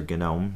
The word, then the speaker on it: GNOME: And it integrates with the GNOME user interface, or GNOME, depending on what pronunciation you use.